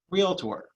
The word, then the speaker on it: realtor: with an extra vowel so the word is real tortor real tour it's simple to say think of it this way do you go see a doctor no you see a doctor is two syllables same thing real tour